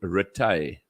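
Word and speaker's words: Rithy: to to look uh we have got names here called retay and it's spelled r-i-t-h-y so when you sent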